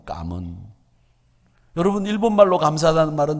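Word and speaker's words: cảm ơn: 감은, 그걸 까문이라고 읽어요. 까문.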